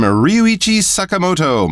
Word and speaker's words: Ryuichi Sakamoto: might know the name Ryuichi Sakamoto. My apologies for my Japanese pronunciation, but that is how we would pronounce his name in English.